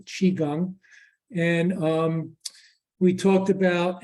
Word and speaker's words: Qigong: what Qigong is again it's Qigong like cheese doodle or Cheeseburger um not Qui or Kwai it's pronounced Qigong and um we talked